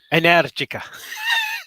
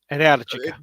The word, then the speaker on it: Energica: Energica. Stress on the second syllable. Energica.